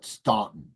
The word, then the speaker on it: Stanton: o n there and the local people called it stuntton.